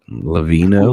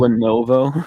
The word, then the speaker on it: Lenovo: How do you say it? Levino? Lenovo. Lenovo. Yeah.